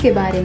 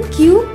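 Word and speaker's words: cube: कुब इसका गलत उच्चारण है। इसे सही से बोलने के लिए पहले बोलें क्यूब, फिर इसमें जोड़ दें ब, जोड़कर बोलें क्यूब।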